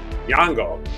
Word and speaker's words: Nyong'o: Lupita Nyong's, a Kenyan Nyong'o. Actress. Nyong'o.